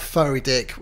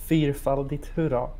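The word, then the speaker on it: Fyrfaldigt hurra: It's not furry dick. It is, in fact, Fyrfaldigt, hurra.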